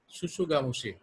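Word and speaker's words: tsutsugamushi: এটার এজেন্ট হচ্ছে রিকেটসিয়া শুশুগামুশি, টি এর উচ্চারণ হয় না।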